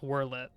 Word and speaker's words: Werlyt: going through wle okay it's pronounced worl I I'll say worl lucky for you eh